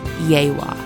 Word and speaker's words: Yegua: core of engineers park for this trip called yaywa Creek Park for those of you who grew up Hooked on Phonics like me it's spelled yagua but pronounced yawa yaywa Creek Park has three Loops of RV